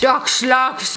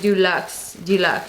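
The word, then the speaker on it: Deux Lux: So it is by Duxlux. I'm saying it wrong. It's like Deluxe.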